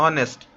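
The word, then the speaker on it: honest: ओ यू पता है लेकिन यहां पर हा से आपको ग रहा होगा लेकिन साउंड प्रोनाउंस कहां से हो रहा है ऑनेस्ट ठीक है तो ये आपका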